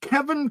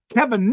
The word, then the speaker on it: Kevin: Tonight I want to share some ideas from physicist Kevin Knuth. I've heard his name pronounced Knuth, K-N-U-T-H.